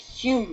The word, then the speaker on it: Home: It's now called Home House, pronounced as it's spelt, but it was once the palatial residence of the aristocratic Hume family, not pronounced as